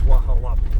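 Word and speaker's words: Hualapai: I think it's Wahalapi. The H is silent. Starts with an H. Didn't know that.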